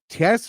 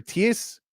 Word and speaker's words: Thijs: I believe it's Tess or Ties DeRitter. It's spelled Thijs. He is Dutch, I believe.